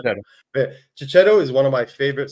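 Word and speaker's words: Checchetto: book, there's no look Chichetto. I don't know. Is Chichetto? Is that how you pronounce his name? Yeah, Right, yeah, Chichetto. shadow. But Chichetto is one of my favorite Spider-Man artists of all time.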